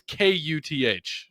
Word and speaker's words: Kuth: It's Kuth. K-U. So it looks like Kuth, and he always has to say, no, it's pronounced Kuth.